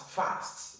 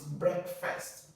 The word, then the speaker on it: breakfast: produ used as first I know many are going to be tempted to pronounce it as fast it's not breakfast it's breakfast then the next word is